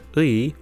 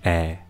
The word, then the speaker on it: 의: Also, remember that when 의 is used in this way, we can pronounce it as either 의 or 에. But it's much more common in spoken Korean to pronounce this as 에.